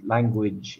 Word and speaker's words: language: So it's lang. The stress is on the lang. Lang. And gwij. So it's that j sound at the end.